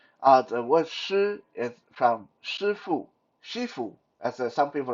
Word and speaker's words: 师傅: how to address them, you can just use 师傅 or Shifu if you want that more Cantonese pronunciation.